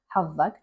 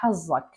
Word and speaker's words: حظك: They actually pronounce it حظك, but there are many dialects they pronounce the z. So they say طاح حظك.